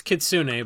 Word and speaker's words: Kitsune: Kitsune Loreweaver, the old fox cleric from Saviors of Kamigawa. It's Kitsune, but okay. Whatever, man. Scourge! You're getting Oklahoma pronunciations tonight, all right?